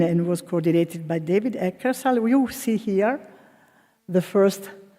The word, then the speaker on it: Eckersall: I never know how to pronounce it, but I think Eckersall is the correct one.